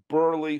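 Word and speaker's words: Buehrle: I'm doing some of this from memory, but I remember Garland, Garcia, Burley, whose name I will never spell correctly, ever. You have to pronounce it in your head phonetically. Burley.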